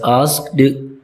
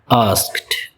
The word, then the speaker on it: asked: It is commonly mispronounced as asked, but its correct pronunciation is asked. Asked. there's a t sound at the end.